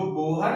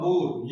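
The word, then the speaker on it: Bohr: जो बोहर की जो परिकल्पना थी, देखिए बोहर और बोर, ये आप कंफ्यूजन नहीं होना है। बोर या बोहर एक ही बात है, उच्चारण अलग अलग है।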